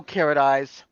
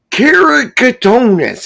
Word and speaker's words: keratoconus: No carrot eyes. Who says that? What I was supposed to say? Keratoconus eyes. Devil dog. Keratoconus. Deborah had to correct me because I can never say it right.